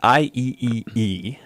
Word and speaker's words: IEEE: The thing is, in 1999, the IEEE, I think there's three E's, decided that was confusing. That's how it's pronounced.